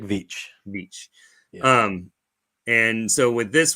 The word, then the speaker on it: Veitch: It rhymes with beach. Going to the beach, it's Rick Veitch.